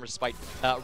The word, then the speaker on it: respite: So the pronunciation, random fun fact, the pronunciation of Respite versus Respite depends on whether you're from the Commonwealth or from American English. What's the American way? The American English is respite, hilariously enough.